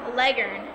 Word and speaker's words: Leghorn: facts about the Leghorn the chicken Pros know that Leghorn is actually pronounced Legend you can put petroleum